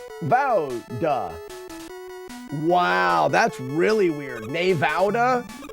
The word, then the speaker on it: Nevada: But having been there, there's only one way to correctly pronounce Nevada, and that's Nevada.